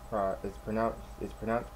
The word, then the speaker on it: Pros-Aide: It's pronounced Pros-Aide, not Pros-Aide. Pros-Aide as in prosthetic adhesive.